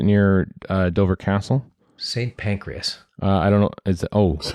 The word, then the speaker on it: Pancras: First of all, the Brits annoyingly pronounce things the wrong way. There's no E in Pancras.